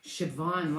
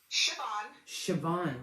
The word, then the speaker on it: Siobhan: are you i'm good thank you can you pronounce your name for me um siobhan wow that's beautiful can you spell it for